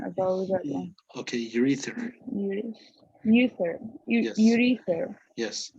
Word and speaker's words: urethra: Um, well, I think ureta. What would be the pronunciation about that one? Okay, urethra.